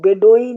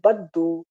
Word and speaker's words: बद्दू: east वाले बदु को इनको बेडो अंग्रेजी में आप लोग पढ़ते होंगे इनका मूल उच्चारण है बद्दू बद्दू माने जो भेड़ और